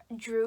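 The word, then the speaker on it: Jru: Drew is spelled J-R-U, and I absolutely love her and or I adore her so much.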